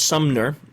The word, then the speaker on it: Sumner: Not to pronounce his name like Summer. It's Sumner. is involved in corporate information security HP.